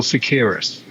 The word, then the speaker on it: Seqirus: You were talking me Yeah, through right before we started recording about how to pronounce it. Did I say that right? it's CSL Seqirus.